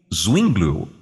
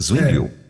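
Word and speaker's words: Zwingli: Martinho Lutero e urico zingl é assim que pronuncia o nome dele zingl isso ah o senhor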